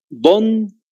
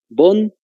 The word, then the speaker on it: von: Von se le dice por la F, en realidad la B se pronuncia F en alemán, entonces para que lo vayan teniendo en cuenta.